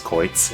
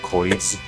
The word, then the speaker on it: Koitz: Like, I guess they really want people to read it correctly as Koitz instead of Koiz or Cruz or whatever.